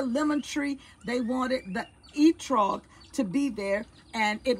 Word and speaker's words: etrog: I got to spell it for you. E-T-R-O-G.